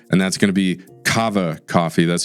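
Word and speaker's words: Kawa: And that's going to be Cava Coffee. That's spelled K A W A Cava Coffee.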